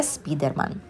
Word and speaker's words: Spiderman: lo llaman Spiderman porque en España muchas veces se pronuncia en inglés tal como se se escribe tal como se ve así que sería Spiderman muchos más puestos algunos de